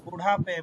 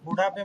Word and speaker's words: बुढ़ापे: मौजूदगी बुढ़ापे তারপর পৌঁছ হ্যাঁ, বুড়াপে, বুড়াপে মানে হচ্ছে যে বৃদ্ধ বয়স।